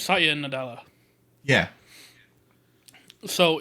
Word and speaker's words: Nadella: just Phil Spencer and God, how do you pronounce her name? Chang, Lulu, Satya. Oh, the CEO of Microsoft. Oh, Satya Nadal. Is it still the same guy that inherited it from? No, it's Satya Nadella.